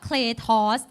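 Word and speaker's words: κράτος: It is kratos Power The Greek word kratos ใน ภาษา กรีก ออก เสียง ว่า cros ก็ คือ ฤทธานุภาพ ที่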